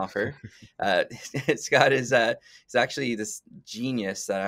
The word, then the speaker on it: Stouffer: We have Scott, I get it right this time, Stouffer, spelled Stouffer, pronounced yeah. Stouffer.